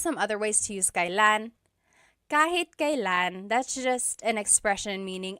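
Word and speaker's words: kailan: Kylan, but you will often hear it pronounced kalan.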